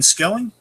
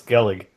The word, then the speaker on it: Skellig: however you pronounce it we said skelling just for short before I said was a little lost that was Skellig I don't know all right